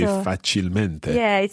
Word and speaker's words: facilmente: Okay, so we wouldn't say facilemente, we would say Esatto. facilmente.